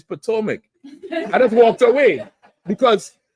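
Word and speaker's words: Potomac: I said, "No, I mean Porto." He said, "Nigga, it's Potoic."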